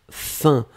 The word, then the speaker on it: faim: Alors là, effectivement, nous étions à la recherche de faim, hein. Souvenez-vous, l'expression c'est avoir faim, avoir soif, etc. Donc ici, c'était faim, on l'écrit F-A-I-M, on le prononce fin, comme F-I-N, c'est exactement la même prononciation.